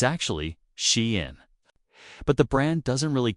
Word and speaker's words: SHEIN: Shine didn't just join this culture.